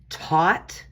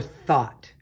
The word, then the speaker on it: Thoth: the near future now there is debate on how that his name is pronounced uh thoth thoth i pronounce his name taught or thought uh egyptian god known